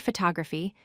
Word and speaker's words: photography: For example, in the word photography, the stress falls on the second syllable, pho-TOG-ra-phy.